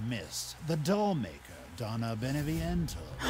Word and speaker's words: Beneviento: a valley of mist the doll maker donna beneviento pronounced it right one of her playmates have ever